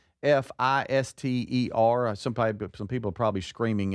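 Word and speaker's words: Pfister: Yeah, it's both both the American both the American pronunciation and the British pronunciation is the Fister Hotel then.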